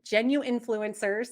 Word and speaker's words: genuinfluencers: to point B so genuine genu influencers it's always hard to drop that middle syllable genuine influencers was the